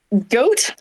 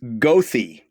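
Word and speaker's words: Goethe: on the North side g o e t h e well I know in German that's a g um goat very close very close it's gothy completely without any re Rhyme or Reason okay really good for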